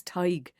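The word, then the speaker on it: Tadhg: No, my real name is Tyig, but my non-Irish clients couldn't pronounce it, and they called me, and that stuck.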